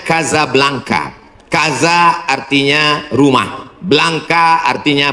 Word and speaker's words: Casablanca: Ibu kotanya tulisannya Casablanca. Cara bacanya Kazablanka. Kaza artinya rumah. Blanka artinya putih. Kazablanka rumah warna putih.